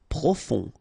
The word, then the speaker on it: profond: Profond, final D not pronounced, O-N, on, profond.